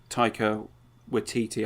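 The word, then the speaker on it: Taika Waititi: a big fan of Tyco with teetee I think that it's definitely how you pronounce it now I've seen enough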